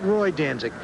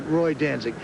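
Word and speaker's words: Roi Danzig: I as in king in French. Very difficult to pronounce. Woody Stevens's trainer pronounces it Roy Danzik. I've always pronounced it Roy Danic.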